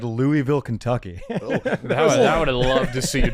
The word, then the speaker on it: Louisville: Louisville. That's if you don't say Louisville, it's actually, you said it wrong. It's not Louisville. It's Louisville. Well, you gotta say like there's peanut butter in the back.